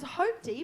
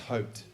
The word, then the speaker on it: Hope D: And then has Hope D been on Not On Your Rider too? Yes, she has. That's right, she has. And then Sahara I think it's Beck. pronounced hoped, though. Hoped.